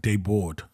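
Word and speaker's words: Desbordes: last name is German bordes but it's pronounced like debor oh right Deb yeah like the s's are silent but I think it's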